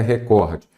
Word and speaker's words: recorde: qual é o Core a sílaba tônica é a penúltima eu tenho o quê